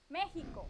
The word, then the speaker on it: México: México. I wrote it as in Spanish. México, con el acento en la E.